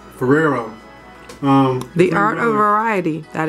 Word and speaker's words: Ferrero: I believe is it Ferrero? Ferrero? Ferrero. Not Ferrari. Ferrero.